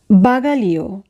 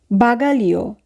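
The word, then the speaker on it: bagaglio: বাগালিও, বাগালিও, luggage. বাগালিও বানানটি যদি আমরা খেয়াল করি তাহলে আমরা দেখব GLE এই তিনটি বর্ণ মিলে উচ্চারণ হবে লি, জি এখানে উজ্জ থাকবে।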